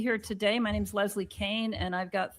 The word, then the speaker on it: Kean: So nobody send me any hate mail for saying Kean. It's how it's spelled. That's how it should be said. Not people don't just get to make up, a pronunciation because they like it better that way. Then change your name to Kane, dumb bitch.